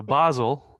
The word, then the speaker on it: Basel: that's about your character so basel that's uh how his name should be pronounced uh basel um you